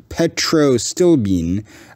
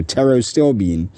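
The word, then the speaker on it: pterostilbene: acrylamide toxicity uh the petrostilbean uh or I guess that's a Arrow still being would be how you pronounce that because that P would be silent so tarot still being in blueberries can control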